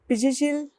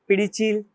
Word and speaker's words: Pizhichil: Pizhichil, sometimes some pronounced as a Pidichil, some North Indian says as Pinjinchil, as the spelling says Pizhi, and in Ayurveda